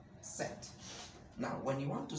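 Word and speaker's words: sept: say this excellent and number seven is set we don't say it because p is silent set now when you want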